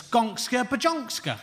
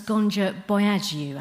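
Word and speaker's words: Gonxha Bojaxhiu: No, it's pronounced Agnes Gonja Boyagiu, actually. All right, Moira Stewart, because that's much less stupid, isn't it? Say it right, or not at all. I will say it how it is spelt. Agnes Gonka Bajonka. Don't put the X's in there if you don't want them said, Albania.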